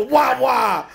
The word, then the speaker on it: Wawa: Wawa.